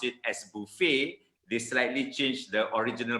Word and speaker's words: buffet: How do we pronounce it? Buffet.